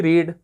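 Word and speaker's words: read: तो first form क्या होती है, रीड, सेकेंड फॉर्म क्या होती है, उसका प्रोनाउंसिएशन जो होता है रेड होता है, थर्ड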